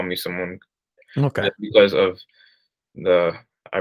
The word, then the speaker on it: Simon: this pronunciation of it when people would call me Simeon in the elementary school in middle school I would I would correct them and instead have them call me uh Simone pronounce it that way because I feel like a pronunciation make more sense because it seems it would be closer to the Giza Mark uh pronunciation my name so I don't like